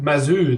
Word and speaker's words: Mazu: Is it Mazu then? Put the emphasis on the first syllable. So Mazu. Mazu.